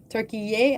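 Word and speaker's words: Türkiye: Turkey yay as they pronouncing it.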